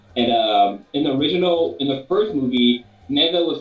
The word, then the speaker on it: Nezha: So I think it's pronounced Neza. It's Nezha, I believe.